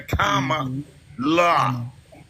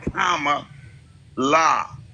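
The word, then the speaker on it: Kamala: k comma like the the accent thing the Kama La Kama La so just remember comma La that's the way to pronounce her name okay comma La I'm gonna say VP Harris I'm not but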